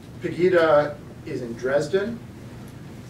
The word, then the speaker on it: Pegida: Pegida? Pegida is in Dresden.